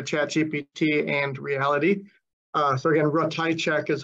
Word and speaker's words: Ratajczak: So again, Ratajczak is how we pronounce our name here.